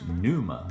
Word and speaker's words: pneuma: the breath of life one of the Greek words for air is Numa spelled with a P the same word root